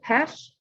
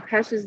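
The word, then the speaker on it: Pech: Wesley Pesch, chair of economics, finance, marketing, and also advises our upperclassmen international business majors. Please note, Dr. Pesch's name is spelled P-E-C-H, but it's pronounced P-E-S-H, and that'll just help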